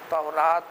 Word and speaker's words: تورات: یہ پیغمبر موسیٰ علیہ الصلاۃ والسلام کی شریعت پر چلنے والے, اللہ کی مقدس کتاب توریت پر, تورات توریت دونوں صحیح تلفظ ہے.